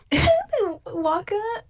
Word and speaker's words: WACCA: Have you ever played on a Waka machine? WACCA. WACCA. Spell it one more time. Waka.